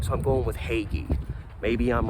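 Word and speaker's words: Hagge: The G does a G, and the E is very strong. So I'm going with Hagee.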